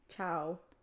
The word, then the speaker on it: ciao: are you oh uh ciao k k oh my God it's a lot like Spanish I don't know if I pronounced that perfectly Chow it's Chow yeah like hi like Chow I thought I thought